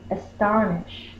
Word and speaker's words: astonish: the sh sound is astonish. Astonish. Ish. That's closed, so that's short. That's closed, so that's short. And this is a schwa. It says the sound. That's the schwa. It's in an unaccented syllable.